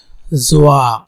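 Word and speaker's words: ظ: উপরে যদি একটা নক্তা দেয় তাহলে সেটা হবে জোয়া, জোয়া, জাস্ট তোয়া, তার উপরে এক নক্তাতে সেটা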